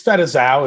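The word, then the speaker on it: Fette Sau: Did I pronounce Fetzau correctly? It's Fetzau. Fetzau. Yes, Fetzau. It's good.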